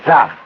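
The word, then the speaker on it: czar: A pronúncia aqui é Zar, né?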